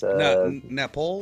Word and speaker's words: nopales: Napole or whatever was it? Nopales.